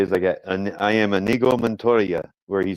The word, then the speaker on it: Inigo: Amigo, his friend. No, Inigo? it's Inigo. It's with an I, Inigo.